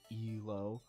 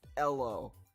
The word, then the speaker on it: Elo: way that sounds so my compromise was to try to stick as close to the original hungarian pronunciation as my american tongue could muster i think halo is a pretty reasonable